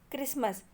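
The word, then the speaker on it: Christmas: Then क्रिसमस. क्रिसमस में T letter silent.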